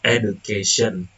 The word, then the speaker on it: education: The first is the word education. The base word is educate. The derived word turned into education. The suffix "en" attracts stress to the preceding syllable "ka", shifting stress away from the initial syllable.